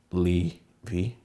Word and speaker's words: Levi: Did I pronounce that right? Levi.